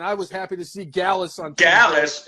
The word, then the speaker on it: Gallus: was happy to see gallus on Dallas it rhymes with Dallas man Dallas is my